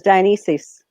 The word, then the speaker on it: Dionysus: and by the way I'm not correcting your pronunciation and that yours is actually absolutely correct I'm just going with a more latinized trans pronunciation now a lot of